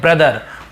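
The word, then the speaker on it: brother: अ पढ़ रहे हैं बताया आपको कई जगह ओ को अ पढ़ते हैं ब्रदर ब्रदर यानी ब्रदर भाई है ना ब्रश ब्रश यानी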